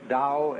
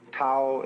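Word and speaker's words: 道: called the dao pao pronounced dao in the mandarin dialect tao in the shanghai dialect told in the cantonese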